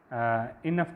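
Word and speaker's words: enough: बात की है, तो इनफ के अंदर जो है उसकी प्रोनाउंसिएशन में डिक्शनरी के अंदर जो है वो एफ़ लिखा होगा, फ़े लिखा होगा, फ़े की आवाज़ देगा वो वहाँ पर, तो वो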